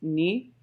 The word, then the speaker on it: nu: variant will be nu which i have been informed is pronounced knee and it has about